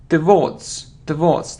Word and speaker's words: towards: It isn't towards, it's towards. The stress is on the second syllable.